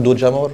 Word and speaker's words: Jamor: C'est Estadio Nacional do Jamor? Do Jamor. Je prononce bien ça.